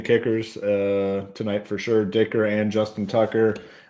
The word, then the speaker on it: Dicker: tonight are good with Dicker because it rhymes with kicker right Dicker the kicker